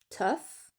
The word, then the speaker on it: tough: Donut, daughter, pareil, vous avez quelques exceptions comme tough. Vous prononcez comme un f mais c'est des exceptions.